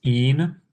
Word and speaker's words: ene: Double bonds is ene, which is pronounced een. And triple bonds, yne, we pronounce that ein.